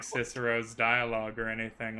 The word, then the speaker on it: Cicero: classical pronunciation, Kikero.